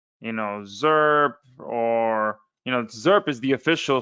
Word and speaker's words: Zairp: And I'm just gonna, uh, say it like Zerp instead of, Zairp, which, I guess I should put I is silent in here or something like that, or A is silent.